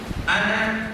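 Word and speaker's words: أنا: Rasulullah sallallahu alaihi wasallam pernah bersabda, "Ana kata Rasul, saya dalam bahasa Arab tulisan ana itu panjang tapi baca jangan panjang.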